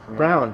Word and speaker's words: Braun: Brown.